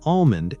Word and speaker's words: almond: The important thing is noticing patterns like silent L in almond and salmon.